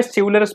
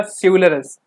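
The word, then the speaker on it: chivalrous: इसको हमें सिवुलरस पढ़ना है। इसका सही प्रोनाउंस होगा सिवुलरस।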